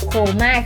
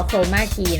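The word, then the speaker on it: chroma key: แต่ ว่า วิว อ่ะ ใช้ โคม่า คือ อ่าน ว่า โครมาคีย์ นะ เดี๋ยว เรา ลอง ติด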